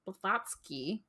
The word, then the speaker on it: Blavatsky: today we're going to be talking about Helena botski that is the correct pronunciation vaty I'm getting pretty good um so